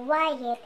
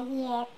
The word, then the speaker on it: Wyatt: So, yung iba nahihirapan i-pronounce yung pangalan ko na Wyatt kung hindi sila familiar dun sa company na Wyatt. So, yung iba, Yet, ganun nila pinopronounce yung pangalan ko.